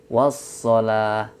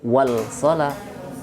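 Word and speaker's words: والصلاة: Bacanya wassalah, tidak wal salah, tapi wassalah.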